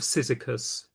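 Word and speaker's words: Cyzicus: Well, one of the few named women artists of antiquity is Yaya of Sysicus. I'll spell that for you.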